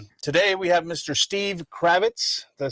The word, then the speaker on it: Kravetz: Steve Kravetz.